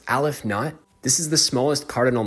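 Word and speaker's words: ℵ₀: infinities, but I will show you this symbol pronounced al if not.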